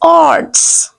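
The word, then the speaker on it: oats: में ऑट्स कहते हैं hair you have to ignore A to some extent right the word is ऑर्ट्स the word will be ट्स next one Khas खाश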